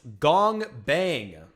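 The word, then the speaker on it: 공방: find out right uh the workshop pronounced gong bang gong bang gong bang okay whatever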